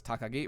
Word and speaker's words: Takagi: I got that now see that's a little tricky because that is a uh there's a term for it but that is the name pronunciation and I wasn't expecting that that's a little unusual when you have two Kani next to each other they usually use the onomi pronunciation but I got to